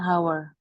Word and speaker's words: hour: back ya in an hour in an hour bacanya in an hour jadi h-nya enggak dibaca in an hour in